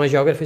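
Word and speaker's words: hagiógrafo: Então, agiógrafo se escreve assim, ó, com H.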